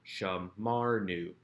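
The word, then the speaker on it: שָׁמַרְנוּ: marker nun shurik again a shurik is not strong enough to draw the accent to itself so the accent remains on that second to last syllable shammar knew we have observed we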